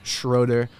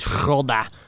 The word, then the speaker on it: Schroeder: German, but I had a German last name, Schroeder, or some have said Schroeder, which is not the right pronunciation.